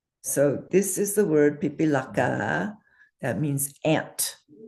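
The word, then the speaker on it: पिपीलिका: word is a beautiful long word that is pronounced pipilaka and it means one of those small insects that crawl around especially in the summer an ant. So this is the word pipilaka that means ant not the sister of your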